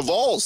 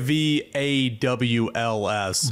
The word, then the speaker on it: Vols: Yeah, it's Vols. You're saying it VAWLS.